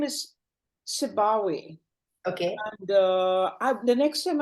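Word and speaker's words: Sibawayh: So, what he seemed to say, his name is Sibawe.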